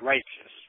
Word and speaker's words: Reitzes: Yeah, Reitzes.